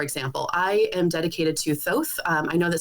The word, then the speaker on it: Thoth: I know that some people pronounce it Toth, Thoth. You know, there's a million different pronunciations, but yeah, exactly. And there's really no right or wrong way, but Thoth is what feels best to my mouth when I'm chanting it in ritual.